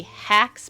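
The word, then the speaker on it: Hocs: So, it's the Everlight, the Flame Bloods, the Hacks, but it's spelled H-O-C-S, and then the Atrium Nihilum, which was the Hall of Nothingness.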